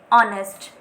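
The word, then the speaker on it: honest: हम क्या लिखने हैं और ऑनेस्ट वही क्योंकि इसमें हा जो है वो साइलेंट है पीछे से स्टार्ट ओवर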